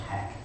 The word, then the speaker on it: Hach: One is doing shipping hand, and all the rest is from HACH, I think it's called, pronounced hack.